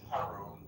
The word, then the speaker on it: Harun: Um is it I think I mispronounced it earlier. So, my friends call me. It's Harun.